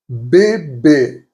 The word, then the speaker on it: bébé: Most of the time, it will be pronounced E. E. Examples: bébé, which means baby.